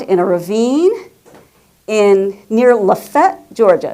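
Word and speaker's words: LaFayette: a ravine in near Lefett, Georgia. It's spelled Lfette, but they will correct you. It is Lefett.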